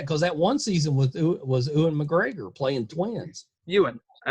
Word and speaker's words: Ewan: But I'm surprised you haven't watched that because that one season was Ewan McGregor playing twins.